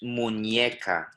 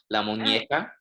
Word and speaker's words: muñeca: Good, so it's muñeca. Muñeca. Yeah, so you need to, again, make sure you're really pronouncing that E there. So Lana, can you repeat that with me as well? La muñeca. La muñeca. Good. So ñe, which the accent on the top of it, is actually a different letter altogether from a normal N, and it makes a ñ noise.